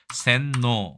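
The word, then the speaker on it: 洗脳: 우리나라 세뇌라고 쓰고요 세뇌 일본에서는 아까 말씀드린 것처럼 새 자라고 발음 안 하고 센이라고 얘기합니다 센노 이렇게 얘기하죠 뇌자가 좀 달라졌네요 조금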